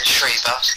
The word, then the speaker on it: Schreiber: We'll say she's Belgian, but I'm trying to say Schreiber. That's the German pronunciation, Schreiber.